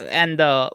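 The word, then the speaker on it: Endō: the OU is like a weird transliteration thing, but it's supposed to be like a long O sound, like O.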